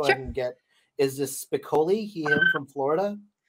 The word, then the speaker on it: Spicoli: So let's go ahead and get, is this Spicoli, him from Florida? Spicoli?